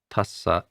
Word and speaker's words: tassa: When you see these double consonants, make sure you pronounce both of them, and that will create a stop. So namo tassa, both S's are pronounced.